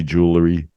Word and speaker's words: jewelry: Peter yeah very good Jewel go to that L and then just drop an Roi jewelry jewelry look at all the jewelry she has jewelry who said syllables just go Jewel up to the L Jewel Ry like a jewel and then re jewelry jewelry Yuri yeah and